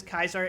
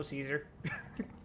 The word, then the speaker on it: Caesar: It has the same hard C problem Caesar has. You mean Keezer? I've been making it a point to pronounce it as Kaiser every time I'm Legion affiliated, and when I'm not, I just go Caesar.